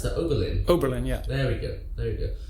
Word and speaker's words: Oberlin: How do you pronounce that? Oberlin.